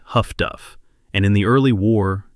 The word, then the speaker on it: HF/DF: The British called this system HF/DF, pronounced Huff-Duff, and in the early war, it was slow and inaccurate, but it worked.